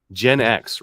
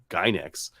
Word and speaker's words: Gen X: Gen X these primers Gen X right genx yeah that's how I pronounce you're right I think you're right so I've been pronouncing these like gyex but Gen X yeah that sounds way better maybe that's what it